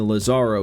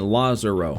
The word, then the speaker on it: Lazaro: He's not saying Lazaro, he's saying Lazaro. A little bit of different emphasis on the syllables there.